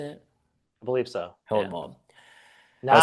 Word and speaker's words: Hohenwald: Yeah, Hohenwald.